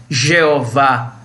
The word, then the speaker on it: Jeová: Chegou-se combinando as 4 letras consoantes do tetragrama YHWH com as vogais de Adonai, que significa Senhor, na forma como é pronunciado Edonan. Então ficou I-E-O-Vá, Jeová, o nosso Deus, aleluia.